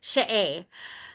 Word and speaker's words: She'e: So it's pronounced, this is the way it's supposed to be pronounced. She'e.